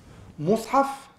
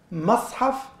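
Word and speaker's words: مصحف: Alors, le mot mushaf, selon les philologues, se prononce déjà de 3 manières différentes. Mushaf, mashaf et mishaf.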